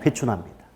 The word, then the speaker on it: 회춘: 회춘 아 현상이 발생한다 발음 조심하셔야 하춘하 아닙니다 회춘 합니다 오케이 근데 요거 를